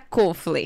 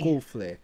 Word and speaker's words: Coffler: É Kofler. Kofler. É como se fosse um circunflexo.